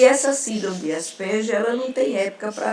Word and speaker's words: Asperger: Eu sempre digo às minhas alunas que o nome é Asperger, né? A gente pronuncia dessa forma.